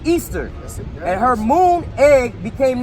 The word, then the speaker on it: Ishtar: So it says Semiramis became known as Ishtar, which is pronounced Easter.